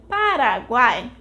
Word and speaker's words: Paraguai: Retaking the word Paraguay, we saw that we take longer to speak the final A of the word. That makes the final syllable, guai, the syllable tônica, and the other two, pa and ra, the syllables átonas.